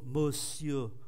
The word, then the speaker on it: monsieur: Bonjour monsieur, monsieur tới chữ y này là hết, không phát âm cái e này.